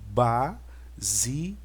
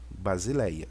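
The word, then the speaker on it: βασιλεία: o alfa som já então isso aqui a pronúncia vai ficar Basileia Basileia eu encontro nós encontramos isso muito no Novo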